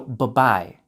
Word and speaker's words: bye-bye: For adults, for it to sound natural, only pronounce the B in the first bye. So bye-bye, bye-bye, bye-bye.